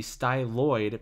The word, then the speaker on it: styloid: from the first arch the styloid process oid rhymes with hyoid and the upper half